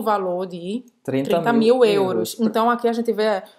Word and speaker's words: euro: Você não vai falar euro, tá? Você vai fazer a boca do O e falar E.